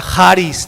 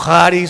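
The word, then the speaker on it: χάρις: La palabra charis, digan todos por favor charis. Unos la pronuncian como Haris, otros como Charis, otro como Caris.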